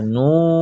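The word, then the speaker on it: ن: মিম, মিম, মিম, এরপরে নুন, দুটো ঠোঁট গোল করে নুন, নুন, নুন, নুন, নুন,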